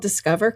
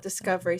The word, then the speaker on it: Discover: First and foremost, it is called Discover Chiropractic. Many people call it Discovery.